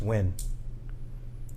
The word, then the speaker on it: Nguyen: And, I don't think you pronounce the N. It's just win.